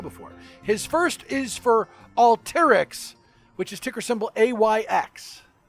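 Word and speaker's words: Alteryx: the same show before his first is for all terrix which is ticker symbol ayx all turrets uh we like alter yx is actually how you pronounce it dean stoker is the founder and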